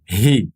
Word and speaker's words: he: Você não diz i, mas deve dizer he. Portanto, é aspirado. Esse H é aspirado, vem assim do peito e você pronuncia he.